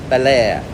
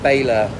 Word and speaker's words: Baler: Luzon Northeast of Manila a town called balair b a l e r of course we were calling it bayor for the longest time and now we're here